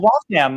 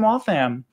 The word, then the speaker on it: Waltham: And you mentioned Waltham. All my family's from Waltham. Waltham? Really? So that's, and that's how you say it, right? Waltham, not Waltham.